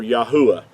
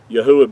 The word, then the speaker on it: Yahuah: saying praise unto yah or yahuwah yahuwah being his whole name pronounced out with the four letters instead of the two so i wanted to